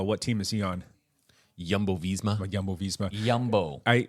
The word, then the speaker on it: Jumbo: team is he on yumbo visma yumbo visma yumbo I I've I've caught Flack from people and I've said it too jumbo it's not jumbo it's yumbo it's not movie start